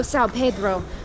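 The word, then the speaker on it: São Pedro: Oh, Sao Pedro, right.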